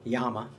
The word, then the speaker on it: llama: Uh two L's. Two L's is a Y. Yeah, two L's is a Y in Spanish.